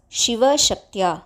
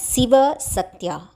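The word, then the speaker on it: शिवः शक्त्या: are being mentioned first the words Shiva shakya the words are not to be pronounced as Sia sakya the word c has to be stressed she and not very hard also to become she like shanmuka the second thing to be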